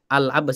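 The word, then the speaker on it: العباس: Al-Abbas itu ada alnya. Al-Abbas ibnu Abdil Muttalib, bukan Abbas ibnu Abdil Muttalib, tapi ada alnya.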